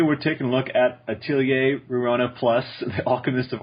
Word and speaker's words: atelier: learned how to speak how to say the word atelier it's french apparently for workshop yeah so now we